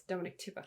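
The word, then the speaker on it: Dominique Tipper: I just realized her name is Dominic Tipper and not Ripper. I'm so sorry. It's Dominic Tipper.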